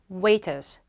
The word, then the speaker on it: waiters: waiter, waiters, waiter 아시죠? 웨이터 분들, 서빙 해주시는 분들 음식. 근데 waiter인데 영국언이라서 어떻게 발음했어? 이 waiters를 waiters, R 발음 안 하죠. 안 해요, 얘들은.